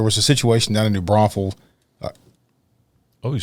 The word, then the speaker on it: New Braunfels: Well, speaking of networking and speaking of learning of other situations, there was a situation down in New Braunfels.